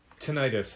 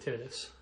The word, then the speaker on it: tinnitus: you pronounce the tinnitus either way tinnitus I think is how I always heard it sure but I've heard I've heard people mispronounce it tennis okay well that's bad